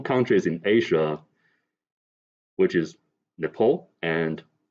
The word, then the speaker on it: Nepal: in asia which is nepal and bhutan you know these two countries and he pronounced these two countries as nipple and button you know who is